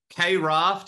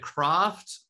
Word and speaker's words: KRaft: the pronunciation here is is it K raft is it craft uh how do you what what do you call it I call it craft but um or actually no maybe I do call it Kraft maybe I just switched